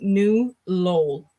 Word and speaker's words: New Lowell: The city I live in is actually pronounced New Lowell.